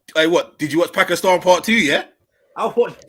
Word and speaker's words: Pakistan: moving can we just can we pronounce pakistan properly please it's actually pakistan so we could just pakistan pakistan pakistan pakistan listen pakistani yeah